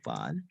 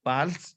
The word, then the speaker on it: parle: My first E, my first that P-A-R-L-E that belongs to I, which is je parle. Je parle. Say clear. Why didn't you pronounce the E?